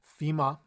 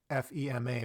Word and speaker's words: FEMA: hear FDA a lot FEMA so we don't say F EMA we say FEMA which is the Federal